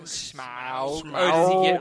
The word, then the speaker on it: Smaug: Smurg. Smaug. Smaug. Oh, does he get like really technical? Yeah, on he that goes, pronounce- He just goes Smaug.